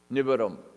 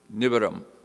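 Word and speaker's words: nivaram: the other words uh nibram so n-i-v-a-r-a-m they're just pronounced quickly nibram so anugata are two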